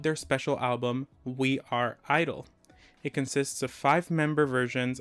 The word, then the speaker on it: i-dle: No more GIDLE, it's just I-dle.